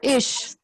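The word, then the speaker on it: ich: I is pronounced as ish.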